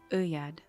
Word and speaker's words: oeillade: Oeillade. No. Okay. Cool. That's what's up. What is it? Oeillade? No, the L is not pronounced. It's Uyad. It's what again? Uyad? It's two L's there.